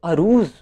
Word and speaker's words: عروض: بھی وجہ ہے۔ اور اگر ہم اس کے تلفظ پہ بات کریں تو کچھ لوگ عروض استعمال کرتے ہیں اور کچھ عروض استعمال کرتے ہیں۔ خیر میری اپنی سمجھ کے مطابق اور کتابوں میں یہی ملتا ہے کہ عروض بیسیکلی اس کا درست تلفظ ہے۔ اب اس کے آگے